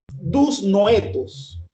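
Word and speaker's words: δυσνόητα: En el manuscrito del griego, mis estimados hermanos, está escrito con una palabra que se pronuncia de la siguiente manera: dus noetos, y que significa estrictamente dificultad de percepción.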